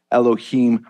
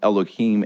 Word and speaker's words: Elohim: uh Jewish sages actually encourage people to pronounce Elohim as eloh C heem and I I know it sounds like it's almost the same depending upon the accent